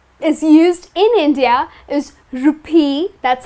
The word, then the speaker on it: rupee: We will start with the country, India and the currency that is used in India is rupee, that's how it is pronounced.